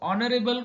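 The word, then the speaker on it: honorable: क्योंकि यहाँ ऑनरेबल ये जो वर्ड है, तो ऑनरेबल का जो प्रोनाउंसिएशन है, वो प्रोनाउंसिएशन उसका जो उच्चार है वो वॉवेल साउंड से शुरू होता है.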